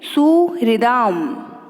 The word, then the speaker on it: सुहृदाम: सुहृदाम, है में री की मात्रा है तो री का उच्चारण भी होना चाहिए, सुहृदाम, ठीक है।